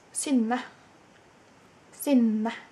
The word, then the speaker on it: Synne: in the doobly-doo but it's basically pronounced sin sin and I know it's difficult not many people that are not Norwegian know how to say it and I'm totally fine